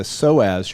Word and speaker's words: psoas: Because what you're doing is when you activate the psoas, your main hip flexor, spelled with a P, P-S-O-A-S.